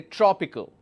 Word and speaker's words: tropical: change the color so what is the third last syllable this is the third last syllable and we pronounced and we stress here the pronunciation will take a stress here and we say tropical all right say for example